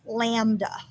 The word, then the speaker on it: lambda: And if you need help pronouncing the symbol here, it's pronounced lambda.